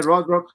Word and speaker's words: Rothrock: Cynthia Rothrock. Cynthia Red Rock, yep.